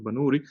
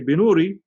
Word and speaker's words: Banuri: I'm sure some people have heard of Shaykh Yusuf Banuri. Some people say Binuri, but actually I've looked into this as well. It seems to be the more correct pronunciation is Banuri, not Binuri.